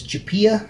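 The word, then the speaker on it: Chiappa: One of my favorite pistols that he has is his Chapia, I believe it's pronounced, the Chapia Rhino, which is a wheel gun that shoots out of the bottom cylinder.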